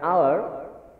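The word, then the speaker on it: hour: আবার দ্বিতীয়টির মধ্যে কি উচ্চারণ হচ্ছে? আ, আওয়ার, যেখানে আ উচ্চারণ হচ্ছে, যেহেতু আ উচ্চারণ হচ্ছে আমরা এখানে বসিয়ে দিব অ্যান।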